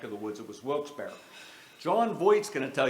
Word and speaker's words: Wilkes-Barre: but anyhow these guys got together it was funny we were up in wilkes-barre for and there's just so people know pronounced at wilkes-barre wilkes-barre we have a homegrown guy here where's ron